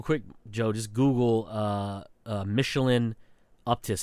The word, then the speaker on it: Uptis: Because if you want, just real quick, Joe, just Google Michelin Uptis. It's UPTIS. Uptis, I think is how you pronounce it.